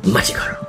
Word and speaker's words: Machi Koro: Machi Koro.